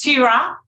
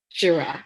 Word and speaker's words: Shira: Okay, it's Shira. Shira.